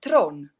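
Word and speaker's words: Theron: or theram throne thoran actually tron that's how you would actually pronounce it in south africa yes see there we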